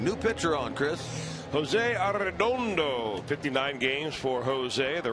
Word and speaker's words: Arredondo: Arredondo. You're going to use that the rest of the year? Oh, I have been. Maybe not quite that pronounced. Trilling the R's quite that much.